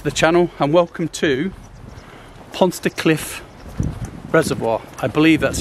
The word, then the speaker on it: Pontsticill: Hello guys, and welcome back to the channel, and welcome to Pontsticill Reservoir. I believe that's how it's pronounced.